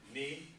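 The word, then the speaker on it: 二: So ni, that's the pronunciation for it.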